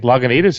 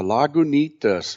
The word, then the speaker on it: Lagunitas: here we go uh lagunitas right on the label it tells you how to pronounce it with emphasis on the knee but i got hop